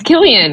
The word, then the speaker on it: Cillian: No, it's Killian. It's pronounced Killian with a K. Because he's Irish, right?